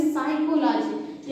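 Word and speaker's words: psychology: हुआ है यानी कि प के तुरंत बाद जब एस आया होगा तो इसे हम पढ़ेंगे साइकोलॉजी यानी कि पी क्या हो गया बाबू साइलेंट हो गया ये हमारा साइलेंट वर्ड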